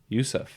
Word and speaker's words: Ouseph: the O coming from Yousef ah o is silent the O is silent you don't get too